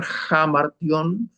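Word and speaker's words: ἁμαρτία: los pecados son jamar debemos pronunciar jamar porque hay un espíritu áspero este jamara Qué es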